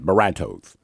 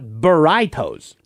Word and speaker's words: burritos: Burritos, Felix, it's pronounced burritos, not boritos.